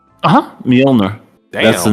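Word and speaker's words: Mjölnir: War d catws o cannot pronounce that Milner that's how you say it for real uhhuh mner that's the name of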